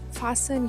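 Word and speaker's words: fasten: Fen your seat belt. Буквочка Т не читається.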